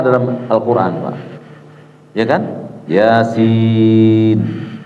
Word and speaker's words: Yasin: Yasin. Dibaca ya-nya 2. Nggak boleh lebih, Pak. Itu sepakat ahli tajwid. Yasin. Sinnya 6.